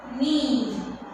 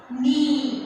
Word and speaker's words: knee: Knee. See, while writing, we write whole spellings, but we won't pronounce the K in this word. Knee.